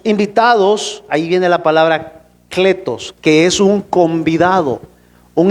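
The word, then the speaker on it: κλητός: escrito en griego que se pronuncia o se lee así, cletos de otra palabra que viene que que se pronuncia caleo, pero aquí es cletos, es llamado.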